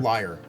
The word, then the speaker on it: Lear: Liar. Like, it's spelled... Liar, yeah. okay. It's spelled like the like Lear, though. Like the Okay. musical instrument. Which is also pronounced liar.